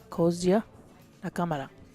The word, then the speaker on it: Kozue Nakamura: Kozue Nakamura. Okay. That's the way they pronounced it.